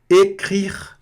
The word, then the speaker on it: écrire: Écrire. Écrire. Aqui, R na garganta, E fechado, R na garganta, E sem pronunciar no final. Écrire. E esse R no final aqui fica écrire.